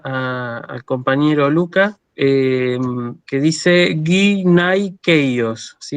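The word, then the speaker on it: γυναικεῖος: Bueno, vamos con la siguiente que le había causado una duda al compañero Luca, que dice guinaikeios, ¿sí? Esta palabra se lee guinaikeios.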